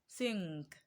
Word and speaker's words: think: has the n sound the letter n that we have before the letter k in the word think is pronounced as um so the word is pronounced as think think think so option p is